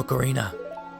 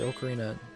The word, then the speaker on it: ocarina: Or ocarina. And yes, I pronounce it ocarina. That's just my style. I think it's correct in my personal opinion. But if you say ocarina, that is also your prerogative.